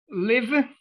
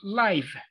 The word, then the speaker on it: live: right you know that the word live has two different pronunciations and each of those pronunciations has a different meaning live and life okay so yeah it can be pronounced two ways for example Facebook live